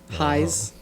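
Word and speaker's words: Hy's: Oh, but it's spelled in what way? HY''S. High's.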